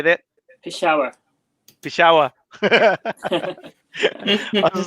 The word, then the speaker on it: Peshawar: that terribly tessa how do you say that peshawar i was like i was practicing i just